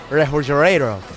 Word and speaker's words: refrigerator: ゲリフリゲレーター It's like everyone just pronouncing like G sound instead of J sound. リフリゲレーター refrigerator Accent his I think he just put the emphasis in the wrong spot.